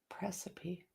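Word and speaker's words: praecipe: Pronounced Presepi. Presepi? Precip? Precipe? Precipe? Precipe. It means an order to request. Precipe. I got it.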